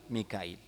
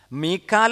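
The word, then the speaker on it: ميكائيل: ചെയ്യും ഹംസ് ഉപയോഗിക്കും ജിബ്രായിൽ മിക്കായിൽ പല ഹിജാസുകാര എന്ത് ചെയ്യൂല ഹംസ് ഉപയോഗിക്കും അപ്പോ അറബികൾക്കിടയിൽ ജിബിരീൽ എന്നും ജബ്രായിൽ എന്നും രണ്ട് ഉച്ചാരണംഉണ്ട് മീക്കാൽ എന്നും മീക്കായിൽ എന്നും രണ്ട്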